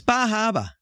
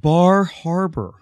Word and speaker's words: Bar Harbor: No, it's Bahaba. Oh, Bahaba. Oh, Bahaba. That's a great place. Bahaba. It's, I think in Ohio, they pronounce it Bar Harbor.